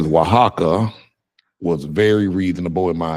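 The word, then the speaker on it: Oaxaca: made this word sound like that but it's pronounced waka waka um someone else says yep they agreed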